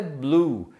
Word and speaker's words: blew: Então aí eu usei o verbo blow, que no passado é blue, que tem a mesma pronúncia da palavra azul, que é blue também.